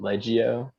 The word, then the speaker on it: Leggio: say his name correctly my name is leggio it's a tell us about before the show i'm like leggio you know that makes sense you know i